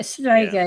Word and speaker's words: strega: Strega.